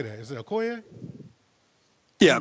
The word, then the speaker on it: Okoye: Is it Okoye? Yeah, Okoye.